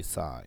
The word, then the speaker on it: sin: So the sine, we say sine, we pronounce sine, but it's spelled like sins, because